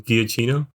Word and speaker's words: Giacchino: Giacchino.